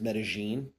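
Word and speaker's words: Medellín: say medine but uh just the way it's pronounced there is medine with like J or G almost so um why did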